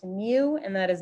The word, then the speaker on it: mu: everybody do that yourself i got that my population mean is 19.75 you guys remember that this is pronounced mu and that is not an m that's like